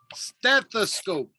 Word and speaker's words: stethoscope: remember the s yes so you say stare and then you have to pronounce the th stethoscope okay that's very close